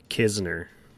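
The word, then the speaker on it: Knizner: Kim Isner can is do you pronounce that k at all for some reason I always thought it was niser but I didn't realize there's another n in his name maybe you could tell me since you're a Cardinals fan Kisner okay the N is silent Kisner got it one two count two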